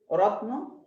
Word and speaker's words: রত্ন: যেমন রত্ন, এখানে তর সাথে দেখেন উচ্চারণ হবে না, কারণ যুক্ত বর্ণ ভাঙলে তর সাথে একটা হর্ষ খুঁজে পাবো, আর যার যে বর্ণের নিচে হর্ষ থাকে তার সাথে অ থাকে না।